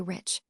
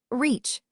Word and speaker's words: rich: Our English adverbs do not terminate in mong, and we pronounce the ch as if there were a t before it. We say rich. Reach, remarked the foreign gentleman.